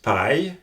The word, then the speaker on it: paille: And a word that has A-I-L-L-E in it is paille, which means straw. And again, you get the same pronunciation as the English I.